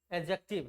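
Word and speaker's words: adjective: द नहीं पढ़ते हैं। डिसाइलेंट होता है। क्या होता है? डिसाइलेंट होता है। ठीक है? एडजेक्टिव। क्या पढ़ते हैं? एडजेक्टिव। ठीक है? एडजेक्टिव नहीं पढ़ते हैं। ठीक है? जहां भी ए बी जे जहां भी ए और जे के बीच में डी आता है ना वो होता है साइलेंट।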